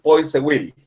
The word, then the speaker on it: Poiseuille: Según leí por ahí o escuché, se pronuncia como Poiseuille, algo así, pero nosotros le podemos decir Poiseuille, ¿verdad? En español se puede leer como está escrito, digamos.